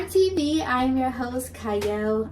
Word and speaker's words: Qiayel: I am your host Cy I know it starts with a q but it is pronounced Cy and today I have